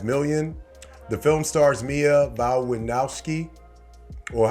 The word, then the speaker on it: Mia Wasikowska: The film stars Mia Wasikowska, or how do you say that? Mia Wasikowska, alongside Talk to Me breakout Joe Bird, and